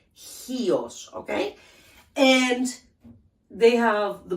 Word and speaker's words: Chios: But it's, the proper pronunciation is Chios with an H. Chios, okay?